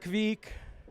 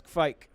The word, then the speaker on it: Kveik: So it's actually Kveik with a V. And some people from the north made it sound a little more like it had an A sound, like Kveik. So basically that is how you say it. It's not Kveik or whatever. Yeah. It's not Kveik. It's Kveik.